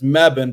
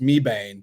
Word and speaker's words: Mebane: And it's Mebane, but it'll be pronounced Mebane for everybody else.